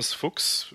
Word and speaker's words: Fuchs: Hello, I'm Fuchs, rhymes with books.